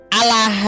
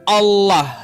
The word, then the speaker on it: Allah: ke dalam kitab mereka, tapi cara bacanya salah. Allah gitu. He. Seharusnya kan kalau kita mengambil dari kosakata Arab, maka kita harus membacanya sesuai dengan tata kaidah bahasa Arabnya yaitu Allah gitu. Tebal dia ada tafkhimnya.